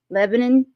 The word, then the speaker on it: Lebanon: in Lebanon I said that'll purpose because that's how you say it leanon Tennessee 300 p.m.